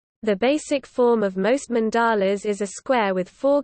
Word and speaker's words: mandala: A mandala, emphasis on first syllable, Sanskrit mandala, mandala, literally,